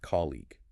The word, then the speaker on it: colleague: But the person you sit next to at work is a colleague. It has a long e sound at the end and a hard g. It's pronounced colleague.